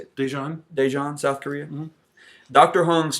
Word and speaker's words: Daejeon: Daejeon, South Korea.